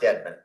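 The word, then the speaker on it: Daman: This is pronounced Deadman. Yeah, It's exactly. not spelled that way, okay. No. My bad, Deadman I without the A.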